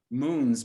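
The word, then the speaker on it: Moens: your husband's last name moons but it's spelled like moen's m-o-e-n-s okay okay 10 years you said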